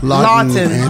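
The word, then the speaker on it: Laughton: Lawton.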